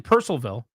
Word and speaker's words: Purcellville: No, I'm saying Purcellville. Yeah, it's like Percival. It's not like Louisville. Yeah. Where they think overdo the it down L is, there. The L is silent, right?